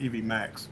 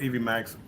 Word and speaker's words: Evmux: the program for this software they said it's pronounced Evie Max but even box Evie Max it's been the same okay well um I